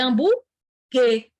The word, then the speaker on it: hambúrguer: E eu tenho outro dígrafo, GU, porque ninguém fala hambúrguer, buê, é hambúrguer. O U é mudo, ou seja, menos 1 de novo.